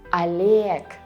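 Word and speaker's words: Олег: Because in all of them, O is not stressed. And what does it mean? Right, you read it as A. Boris, Oleg, Igor.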